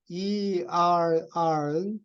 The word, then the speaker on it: err: ERR은 발음을 err라고 그래요. 공기하고 발음이 똑같아요. 잘못하는 아이들 on earth 땅에서